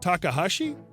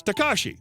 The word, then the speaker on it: Takahashi: Are you talking about Takahashi? CB. Yes, Takashi. That's not a typo. She mispronounced the name after I said it.